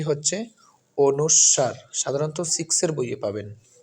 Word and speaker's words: অনুস্বার: বর্ণটি হচ্ছে স্বরবর্ণের এই ব্যঞ্জন বর্ণের অনেকে আমরা উনেস্কার পড়ি কেউ তো ফসন্ত বলে ফেলি কোনটাই সঠিক নয় সঠিক উচ্চারণটি হচ্ছে অনুস্বার এগুলো ব্যাকরণের বইয়ে খুঁজলে আপনারা পাবেন সঠিক উচ্চারণটি হচ্ছে অনুস্বার সাধারণত সিক্স এর বইয়ে পাবেন এই স্কুলের যে